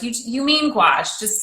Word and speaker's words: gouache: to you see in france we call it gouache but in english we call it opaque watercolor because people didn't understand they couldn't even pronounce gouache but it was the worst thing when i